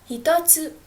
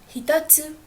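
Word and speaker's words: 一つ: try practicing it okay so you can also add the counter to to this kunyami which is hito so it becomes hitotsu hitotsu which means first so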